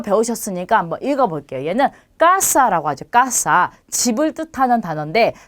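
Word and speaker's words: casa: 그러면 이 단어를 읽으실 때 까사 이렇게 하지 않고 까사 이렇게 요 부분을 약간 높여서 강하게 읽어야 하는 게 정확한 발음이 되는 거죠.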